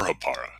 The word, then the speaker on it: Hapara: Oprah or hapara depends on where you're from and that's how you